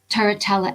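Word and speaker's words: Turritella: the yellow jasper and if i can pronounce it correctly it almost sounds italian taratella agate the one that has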